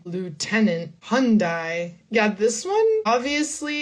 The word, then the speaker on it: Hyundai: But in the US, we say Hyundai for this brand. Hyundai.